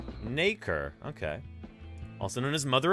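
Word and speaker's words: nacre: real quick yeah there you go apparently it's pronounced naker okay also known as mother of pearl is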